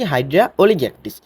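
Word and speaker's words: Hydra oligactis: হবে সেটা হাইড্রা অলিগ্যাক্টিস নামের উচ্চারণটা কি হাইড্রা অলিগ্যাক্টিস আচ্ছা এটার আরেকটা প্রজাতি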